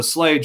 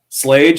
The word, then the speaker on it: Schlage: There's a Slage one out there.